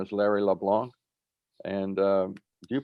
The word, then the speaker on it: LeBlanc: his name is larry leblanc and do you pronounce the c larry or is it leblanc like frank it depends who's talking to me if i'm in quebec i don't pronounce it ah well i tend